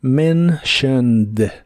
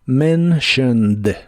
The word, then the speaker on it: mentioned: en la palabra mentioned la t se pronuncia como sh mentioned la o se pronuncia muy muy suave y la e de casi al final no se pronuncia mentioned mentioned before you mentioned